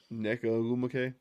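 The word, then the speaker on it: Nneka Ogwumike: Neka Ogumake. There we go. Shout out to you, Blake. Great pronunciation.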